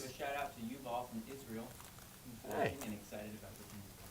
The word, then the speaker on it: Yuval: Give a shout out to Yuval from Israel, who's Hey.